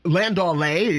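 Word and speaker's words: landaulet: range rover long wheelbase land delay landaulay is how it's pronounced a land delay means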